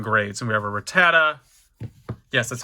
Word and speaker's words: Rattata: And we have a Rattata. Yes, that's how you pronounce it.